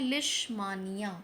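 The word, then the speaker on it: Leishmania: भी याद रखना है, और उसका नाम है लिशमानिया या लिशमैनिया, जो भी आप बेटर प्रोनाउंस करना चाहें।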